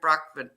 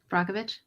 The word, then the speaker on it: Brockovich: He was part of that Erin Brockman. I can't say her name. Brockovich?